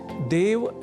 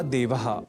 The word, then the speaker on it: देवः: मिल जाया करते हैं जो देवः को दवः और देवता को दैवता के रूप में भी अनवधानतावश लिख या बोल जाते हैं। संभवतः ए को ऐ समझने की दुष्प्रवृत्ति से ही ऐसा संभव होता है।